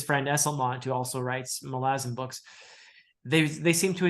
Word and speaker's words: Malazan: reward from from melizon it is malazin right I feel like everybody pronounces it differently yeah well uh the and any pronunciation is fine you know I'm not condemning anyone who says Malazan or whatever uh but I tend to say malazin uh simply because the authors say malazin and it is um